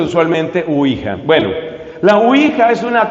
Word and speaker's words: Ouija: Pero se pronuncia usualmente Ouija.